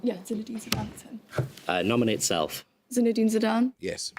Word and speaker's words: Zinedine Zidane: Is that how you pronounce it? Zinedine Zidane. Yeah, Zinedine Zidane.